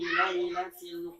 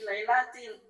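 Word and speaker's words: ليلة: Seperti orang baca inna anzalnahu fi lailatul qadr. Ada fi-nya pasti lailatil. Karena dia tahu fi harfi jar, lailahnya majrur. Makanya fi lailatil dibacanya.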